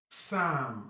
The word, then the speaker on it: Psalm: Psalm. And mind you, this L is silenced there. Psalm. The P there is also silent. You're pronouncing Psalm. The M will be pronounced.